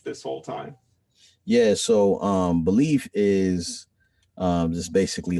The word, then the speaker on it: Beleaf: Basically, when I was growing up, like I had like super low self-esteem and all that stuff, and so I call myself Belief because like I wanted to like remind myself to believe in myself.